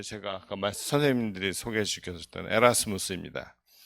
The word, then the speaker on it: 에라스무스: 이유는 뒤에서 설명 드리겠지만 고전 라틴어 발음 그대로 읽어서 에라스무스 라고 저희는 고집하고 있습니다 국립국어원이 표기를 바꿨으면 좋겠는데